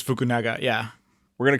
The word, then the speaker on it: Fukunaga: now so Julio you got a shot at pronouncing the director's name here Corey Joi fukunaga I think it's fukunaga yeah we're gonna call him Carrie as he